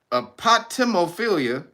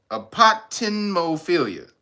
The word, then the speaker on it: apotemnophilia: The last two are apotemophilia. Apotemnophilia. Excuse me, timno.